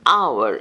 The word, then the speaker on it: hour: project six AR is found before words beginning with with silent h an hour h o r an honest